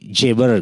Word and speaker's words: Geber: Orang barat menyebutnya ditulisnya Geber. Nah, karena kan G ini dibacanya J ya, jadi Jeber gitu. Jeber ya, Jabir itu Jeber.